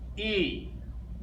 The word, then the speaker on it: I: trying to confuse you in German the letter i is e the letter i is pronounced e okay the letter j